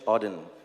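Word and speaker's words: Auden: it's a part of a poem from W Odin that's how you pronounce it so I wish you first a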